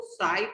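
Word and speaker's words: ψ: Mole fraction को symbol ऐसे होता है, इसको साई पढ़ते हैं, पी साइलेंट होता है, साई से डिनोट करते हैं।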